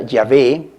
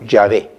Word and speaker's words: Yahvé: nosotros llamamos consonantes y se escribe YHV chica H y se pronuncia Yahvé en la pronunciación hebrea original, tal como lo decimos en este momento, Yahvé, ¿no?